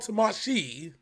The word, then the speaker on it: Tamashii: video special is called tamashii i have to emphasize the sheet because it's too odd